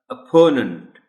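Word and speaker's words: opponent: और जो ओ है पहला ओ इस वर्ड का, उसको ओ के तौर पर ओ की साउंड में नहीं बोला जाएगा बल्कि की साउंड में बोला जाएगा. अपोनेंट. देखें कितनी बातें हो गई. ओ की साउंड, पी पर स्ट्रेस और NENT की साउंड.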